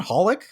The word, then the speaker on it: xxxHolic: hol I see yes it's pronounced holic hello I'm and